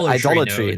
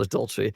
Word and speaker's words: Idolatry: It's like the Idolatry, node. no, The idolatry, node. not adultery. I was corrected on that multiple times on my stream, but I kept saying it wrong.